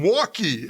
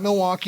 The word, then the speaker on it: Milwaukee: hear it from Milwaukee so it's actually a two- syllable word right so people don't get that